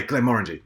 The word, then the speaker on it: Glenmorangie: first um as uh glen ranji or glen moring's properly pronounced uh creates a single malt whiskey uh made to mix uh called glenn murangy uh sorry x by glenn orangey that's it x by clem orangey